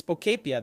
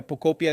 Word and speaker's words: Pokopia: It's Pokepia, that's it, right? Pokepia? I think that's it. The name is Pokopia. Pokopia is how you say it.